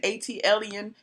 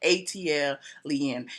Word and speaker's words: ATLien: And ATLien is pronounced just like that. ATLien. It stems from the Atlanta airport code, and alien means someone who landed in Atlanta and decided not to leave, i.e.